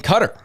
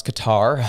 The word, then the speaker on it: Qatar: However, we move forward because Carney was in Cutter or some would pronounce Qatar.